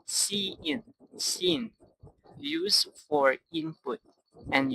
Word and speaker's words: cin: While scene is pronounced C in, scene, used for input and uses the extraction operator.